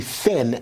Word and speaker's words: Finn: But now let's get you over to Emily Finn, F-I-N-N, not F-L-I-N-N.